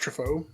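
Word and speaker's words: Troffea: that's it's t-r-o-f-f-e-a and it's french so i assume it's pronounced trifoa yeah it sounds kind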